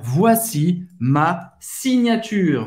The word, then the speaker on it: signature: Você vai pronunciar o R e o E mudo no final.